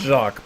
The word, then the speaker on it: Jacques: Well, it's Jacques, but he's Jack, basically.